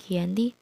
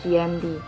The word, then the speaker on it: Giyanti: Dalam pelafalan Belanda, ia tersebut sebagai Yanti, dan sebagai tertulis, ia terbaca sebagai Giyanti.